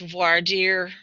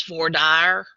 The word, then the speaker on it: voir dire: the jury selection process is in old french voir dire but we live in texas so everybody says voor dire um and so sometimes